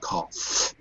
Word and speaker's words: cough: also rhymes with enough but what will thoroughly put you off is that none of them rhyme with cough oh look at that